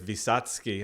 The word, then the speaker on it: Wysocki: So And technically, I think it's Wysocki. I went to Poland a decade the ago. W's a V, yeah.